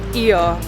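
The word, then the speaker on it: Oia: Oh, Iya. It's not pronounced Oya, it's Iya.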